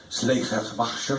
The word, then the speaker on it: Schleiermacher: Schleiermacher, que en alemán se pronuncia Schleiermacher, Sotrasmonschuvenbachen.